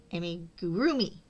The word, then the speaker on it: amigurumi: Amigurumi. Amigurroomi. That's it. Right. You put the emphasis on the rue. Amigurumi.